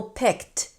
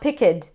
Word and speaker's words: picked: For example, picked. Okay, it's not pick-ed. It's picked. kissed So, do it slowly.